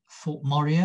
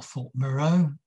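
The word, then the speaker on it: Thorpe Morieux: Warner lands in Suffolk: Thorpe Moray or Thorpe Moreau, as it might possibly be pronounced in Suffolk dialect, Kettlebaston.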